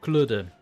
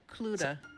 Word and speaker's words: Kludde: So you pronounce it Kludde. Cluda. Kludde. It sounds, like in the UK.